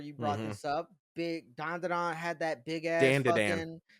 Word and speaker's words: Dan Da Dan: So dandadan had hype, and when you have that much hype, it should be good off rip, right?